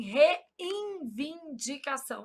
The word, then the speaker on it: reivindicação: A gente nasaliza esse N pronúncia. a gente fala assim, reivindicação. Aí a gente sai colocando N onde não e aqui ombridade com H desejável pelo menos sete palavras escritas corretamente, tá?